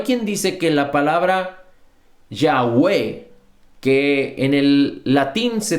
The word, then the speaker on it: Yahweh: no tienen vocales, y que si lo pronunciáramos en español podríamos decir que se dice Yahweh o Yahweh.